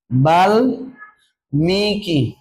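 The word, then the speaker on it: বাল্মীকি: পারছি আরো দুইটা উদাহরণ দিছি সম্মান আর বাল্লিকি বাল মিকি এই দুইটার উচ্চারণ করো তাহলে দেখো এখানে তাহলে সম্মান কি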